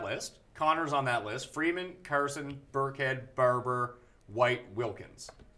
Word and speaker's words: Freeman: right there I think Freeman Freeman Freeman to even you're not pronouncing it correctly free man free man all the emphasis is on the man but they'll basically be